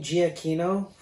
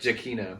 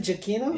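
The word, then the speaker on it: Giacchino: really because claire was singing you've been saying gia kino as long as you have and i had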